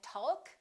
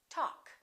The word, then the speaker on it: talk: all right silent l we don't say walk and talk we say walk talk could would should silent